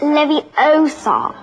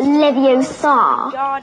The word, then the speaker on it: Leviosa: someone's eye out besides you're saying it wrong it's Levi Oar not levos you do it then